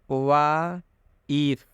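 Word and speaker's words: wife: यहाँ पर आई के बाद एक कॉन्सोनेंट है। आई के बाद क्या है? एक कॉन्सोनेंट है और उसके बाद ई आया और उसके बाद कॉन्सोनेंट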